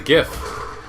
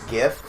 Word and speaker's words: GIF: I prefer GIF because it's a soft G sound.